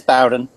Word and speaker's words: Bowden: Yeah, it is Bowden.